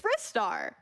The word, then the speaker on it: Ristar: Remember, kids, it's wrist, not riced. So Ristar grabs things with wrist. It's Ristar. That's how I know how to say it too.